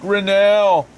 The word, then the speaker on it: Grinnell: is pronounced and my last name is pronounced grinnell can you spell your